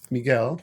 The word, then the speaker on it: Miguel: Miguel, right?